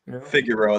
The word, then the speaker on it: Figueroa: it figueroa that's the so there's a street in l.a that's figaro that's how they pronounce it there's probably a better way to pronounce it okay um chad